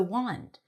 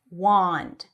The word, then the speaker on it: wand: And then wand, even though it has an A, it's an ah sound. Wand, wand, wand.